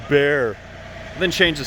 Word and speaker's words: Bexar: It's pronounced bear.